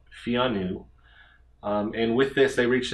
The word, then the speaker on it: Pheanoo: i'm pronouncing this right fiannu to me it reminds me of like keanu reeves like keanu keanu keanu but fiannu and with this they